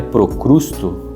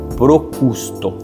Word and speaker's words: Procusto: A tendência é que a gente fala é procrusto, procusto. Então, não se desanime se você pronunciou errado, porque às vezes eu também pronuncio errado, mas o correto é procusto.